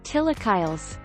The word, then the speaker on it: chilaquiles: let us show you the way chilaquiles spanish pronunciation tillakiles from the nalwatal word chilocalial tilakillet chilis and